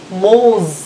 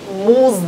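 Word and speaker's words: موز: মৌজ, উচ্চারণ মুজ না মৌজ, মৌজ মানে হচ্ছে কলা।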